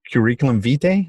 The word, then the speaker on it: curriculum vitae: guys but also is cv which stands for curriculum vitae that's how you pronounce it and um there's always obviously we